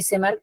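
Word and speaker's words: Tschermak: एंड वन से मार्क टी से मार्क T silent है हिडी ब्रज कर्ल कोरेंस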